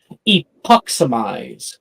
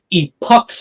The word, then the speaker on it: Epox: very first spell um the spell is pronounced epox say it with me epox epoxy epox epox very